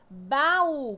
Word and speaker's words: baú: Baú. Como é que eu divido baú? Baú, né? Tá vendo que o U é mais forte?